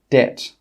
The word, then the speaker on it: debt: It's also normally not pronounced before the letter T. For example, debt.